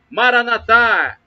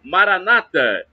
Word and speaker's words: Maranata: de Jesus, eu clamo, Maranatá ou Maranata, as duas pronúncias são válidas. Maranatá, dita pelos católicos, e Maranata, pronúncia com a tônica na penúltima sílaba, é dita pelos evangélicos ou protestantes.